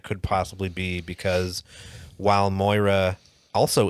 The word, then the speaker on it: Moira: possibly be because while moira also it's pronounced moira you